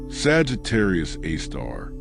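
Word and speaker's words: Sagittarius A*: And the asterisk, the star symbol, well, that's pronounced AAR. A designation that makes it sound almost friendly, almost poetic. Sagittarius Aar.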